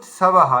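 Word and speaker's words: स्वाहा: একটা হচ্ছে এইযে ইত সাবাহা এটা একবার বলুন আপনি আচ্ছা সবাহা দন্তসের উচ্চারণ সাবাহা সাবাহা এইবার ঠিক আছে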